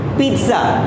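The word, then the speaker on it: pizza: पिज़्ज़ा, पिज़्ज़ा, पिज़्ज़ा नहीं, ये double ज नहीं है, पिज़्ज़ा। तो आपको यहाँ पर इस टी को हल्का सा बोलना है, पिज़्ज़ा।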